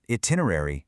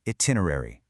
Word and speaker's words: itinerary: It's not itinerary, it's itinerary.